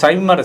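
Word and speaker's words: Simian: சைமன் சைமன் ரேகைன்னு இங்கிலீஷ்ல சொல்றாங்க. நம்ம ஊர்காரங்க அதை உச்சரிக்கும் பொழுது சிமிய ரேகை அப்படின்னு உச்சரிக்க இந்த சிமிய ரேகை இருக்கறவங்க பார்த்தீங்கன்னா எல்லாம் இருக்கும்.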